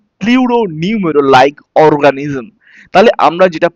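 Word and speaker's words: pleuropneumonia: পিপিএলও means the pleuro নিউমেরো, এখানে আমরা কে পি K silent রাখবো, প্লিউরো নিউমেরো লাইক অর্গানিজম।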